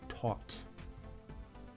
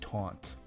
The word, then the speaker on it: taut: Like a tuned piano string, it's taut. Taut. I think I went a big part of my life saying taunt instead of taught.